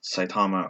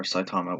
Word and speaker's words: Saitama: is about this character called saitama or saitama whichever way you want to pronounce it and he is most